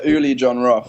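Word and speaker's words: Uli Jon Roth: You Uli John Roth. Uh yeah, it's Ulie John Roth.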